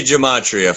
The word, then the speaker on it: Gematria: So it's easier to say Gematria for sure. Right. I've even listened to pronunciations before the show just to see if I got it right.